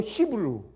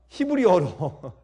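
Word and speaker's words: Hebrew: 히브리 여러분 영어로 히브루. 근데 원래 그러니까 히브리어로 옛날 아람어로 발음이 히브리예요. 그래서 옛날 그 히브리어의 발음은 우리 한국말 발음이 사실은 제대로 영어보다 훨씬 더 정확한 것입니다.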